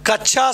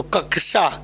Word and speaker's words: कक्षा: अगला, कच्छा शब्दों का शुद्ध उच्चारण क्या है? कच्छा का शुद्ध उच्चारण क्या है? तो कच्छा शब्द का शुद्ध उच्चारण क्या है? तो कक्षा, क्या होना चाहिए?